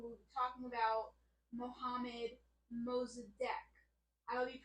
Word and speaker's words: Mossadegh: from democracy now and Amy Goodman says that his name is Muhammad mozadek that's how she pronounced it I know it is spelled uh m o s s a d e g h and not d-e-q so some people might